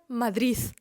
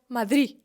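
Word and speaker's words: Madrid: вимовлятиме цей звук по-різному мій начальник який сам родом з аштуріяш помляє слово Мадрид назву міста як мадрис мадрис чий колега по роботі який сам родом з Мадриду вимовляє це слово як мадрі мадрі взагалі не вимовляє звук д ті колеги які з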